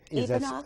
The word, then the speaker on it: Ivanov: And we were talking about your last name, and there's two ways of pronouncing it. One way Ivanov? to say it right, and one way to say it in English. Okay, so if I say Ivanov?